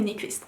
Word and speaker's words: Nyqvist: Nyqvist.